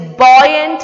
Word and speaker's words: buoyant: It is buoyant force. What is it? Buoyant force. The spelling is different. It's not like what we pronounce.